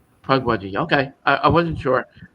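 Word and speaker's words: Pukwudgie: Uh pugwaji. How do you pronounce that? You got it. Pwajji. Pug wudgy.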